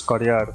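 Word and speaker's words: karjäär: Uh and through that grow my heart career or how you pronounce this in Estonian it is carer and through that to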